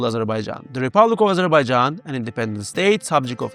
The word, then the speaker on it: Azerbaijan: word Azarbaijan uh Abberaijan and Albania to some extent this is understandable the word is foreign. The phonetics are unfamiliar and it has as many as four syllables.